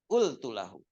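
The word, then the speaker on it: قلت له: Nah, ini bacanya ultulahu. Bacanya ultulah. Ya, bacanya ultu, qaf jadi hamzah. Ya, malah di sini ultuluh, lahu jadi luh.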